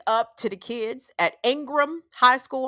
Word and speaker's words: Ingram: So big up to the kids at Ingram High School. I know I said Ingraham because I'm country and I'm going to pronounce the whole word.